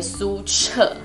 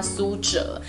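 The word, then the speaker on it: 苏辙: 我们台湾都称他为苏辙，但是呢，这个字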